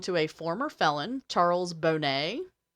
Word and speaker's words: Boney: One of the samples belonged to a former felon, Charles Bonnet, which is spelled Boney, Boney, which I think is funny, but it's pronounced Bonnet, but I kind of want to just call him Boney because...